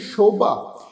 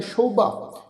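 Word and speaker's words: ਸ਼ੋਭਾ: इत्थे साध संगत ख्याल रखो, जिस शोभा, ये जिहड़ा वा सस्से पैर बिंदी लगा के उच्चारण करांगे, शोभा, क्योंकि ये हिंदी का लफज आ जी, शब्द आ, ते इत्थे साध संगत सस्से पैर बिंदी दे नाल ये शब्द उच्चारण होएगा, शोभा।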